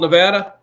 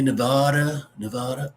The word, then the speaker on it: Nevada: Trump went to Nevada and he says, you ever heard of a place called Nevada? He said, you ever hear some people? You ever hear some people? They say Nevada.